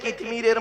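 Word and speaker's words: কিতমীর: কিন্তু আমাদের জ্ঞান হয়ে গেছে কিতমিরের মতো। কি বললাম? কি বললাম? কিতমির। কি বললাম বলুন? কিতমির বলুন, উচ্চারণটা করুন। কিতমির। কয় হস্যই ত মো ময় দীর্ঘই র।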